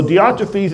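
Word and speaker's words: Diotrephes: anybody else got a better explanation it's better pronunciation theotrophies okay so theotrophes is the third character and he's the bad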